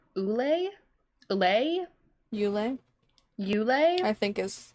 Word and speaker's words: Ulay: Ulay, I think is how you say it. I don't know how to pronounce it. It's Ulay.